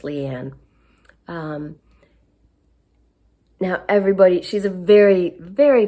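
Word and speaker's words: Liane Moriarty: I'm sorry, I think her name is pronounced Leanne.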